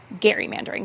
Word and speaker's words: gerrymandering: And I think it's so fun that we're all saying it wrong. And actually it should be gerrymandering, Baker.